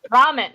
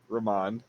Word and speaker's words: Ramon: god damn it no ramen no not ramen ramon ramon there we go it's ramen but with the emphasis on the other syllable uh madeline where's the